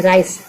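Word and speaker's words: rice: देखेंगे कि क्या जैसे राइस आर आई सी ई राइस लिखे तो क्या है दोनों व साथ में है तो इ यहां पे साइलेंट हो राइस ही नहीं पढ़ते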